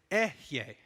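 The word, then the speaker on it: אהיה: Well, in ancient Hebrew, the way you would pronounce I am is Ehyeh. It's close, but it's not Yahweh, Ehyeh.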